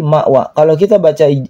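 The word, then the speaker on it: مأوى: Ma ditekan bukan mak maqwa. Bukan maqwa tapi mawa.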